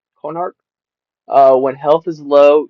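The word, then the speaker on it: Konahrik: But at the same time, you have to use it to get this next one, which is pronounced cornhark. Conarch.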